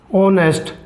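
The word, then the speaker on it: honest: जैसे रमेश इस दास ऑनेस्ट परसों तो हमें पता है ऑनेस्ट ईमानदार हा यहां भी साइलेंट है तो हमारा क्या ग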